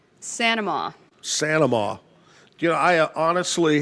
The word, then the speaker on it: St. Amant: I like to say Saint Amant. Claire Saint Amant. But she pronounces it Sanama.